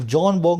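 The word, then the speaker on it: Björn Borg: 83 की, तो एक जॉन बॉग नाम का खिलाड़ी था। यहाँ पे बी साइलेंट है ना, बी जे जब भी आए ना, बी और जे साथ में है तो बी साइलेंट होता है।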